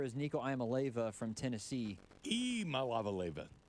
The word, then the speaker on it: Iamaleava: Iamaleava. Iamaleava? Yeah, I pronounced it incorrectly this whole time. You start with E.